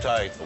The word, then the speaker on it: charcuterie: How do you pronounce that one? Charcuterie? Charcuterie.